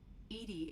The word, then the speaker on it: EDI: are you named edie edie is the phonetic pronunciation of e d i that is an acronym